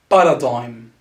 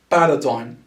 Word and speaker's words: paradigm: we spell it that's paradigm paradigm so as you can see the g is silent so ignore about the g it's paradigm paradigm is a synonym